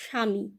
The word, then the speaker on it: স্বামী: ময় দীর্ঘ ইকার স্বামী কিন্তু যখন উচ্চারণ করছি আমরা বলছি স্বামী তালব্য সয় আকার ময় রস ইকার উচ্চারণ করছি স্বামী এভাবে তোমরা নিশ্চয়ই বুঝতে